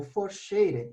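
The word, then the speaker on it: 4Shared: Tem o site que é o ForShared, né? Se escreve 4 Shared, né? Mas a gente fala ForShared.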